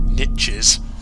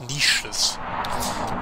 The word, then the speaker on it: niches: Why does he keep pronouncing it niches? It's niches. Niches, my friend. The symbol on this stone is illegible.